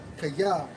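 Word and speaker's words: chayeh: And Miss Bowles, man, when you go into their term in the Hebrew for lively, it's Strong's H 2422, pronounced as kaya, which means lively, vigorous, strong, and robust.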